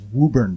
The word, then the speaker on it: Woburn: And it was Woburn Bank, which is how we pronounce it in Massachusetts. They're like, I'm calling from Woburn Bank.